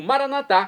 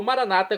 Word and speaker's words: Maranata: E agora eu clamo Maranatá, como dizemos nós católicos, ou Maranata, como dizem nossos irmãos separados, os evangélicos ou protestantes. Não importa a pronúncia, o significado é o mesmo.